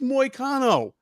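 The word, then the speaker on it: Hanatani Moano: been there that long moo rhymes with volcano is not his nickname it's moano oh but you know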